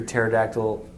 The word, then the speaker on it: pterodactyl: can't you hear the pterodactyl use the restroom why the p is silent i know that one